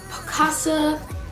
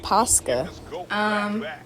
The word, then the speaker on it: Posca: My fourth unpopular opinion is that, wait, because I don't think I'm pronouncing this thing right. Let's see. Picasso markers are overrated. So I still was not pronouncing it correctly. It's called Posca. Now, don't get me wrong.